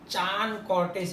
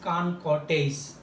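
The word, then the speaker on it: Chancourtois: Pronunciation is not Chan Cortés, it is Can Cortés.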